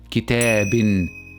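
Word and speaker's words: كتابٍ: But if I add tanween with kasra at the end of this word, then it will be pronounced as kitabin, kitabin.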